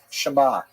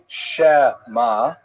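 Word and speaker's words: שמע: And that's like kind of a partial pronunciation like the word uh shama, right? Shama. You don't say shmma. You don't say schma. It's shama. It's a little bit of a gap in there.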